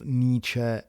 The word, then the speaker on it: Nietzsche: They are pronounced Nietzsche and Feuerbach.